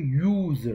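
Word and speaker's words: user: vowel sound का है, लेकिन इसका अगर आप उच्चारण करेंगे तो ये यूजर कहते हैं, YOOZER, ये साउंड ऐसे करते हैं, नहीं उसका उच्चारण यूजर होता है, इसलिए इसके आगे ए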